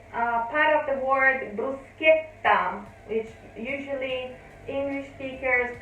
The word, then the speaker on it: bruschetta: a which is a part of the word bruschetta which usually english speakers pronounce if we take off the h